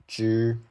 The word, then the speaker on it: zhi: Just for example, the first one, zhi, when you think of how to pronounce the word January, it starts with zh. This is the same. It's also zhi, same as how you pronounce January.